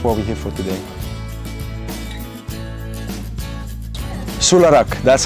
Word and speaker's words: Solaraq: for and that's what we get for today Sula Rock that's how he pronounces it comes from a solar Odyssey and